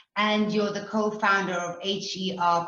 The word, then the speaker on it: HER: So you have founded several higher education institutions, and you're the co-founder of HER, pronounced as Her, Digital Academy.